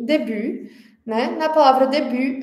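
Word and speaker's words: début: Na palavra debut, a gente também tem uma consoante muda no final, né?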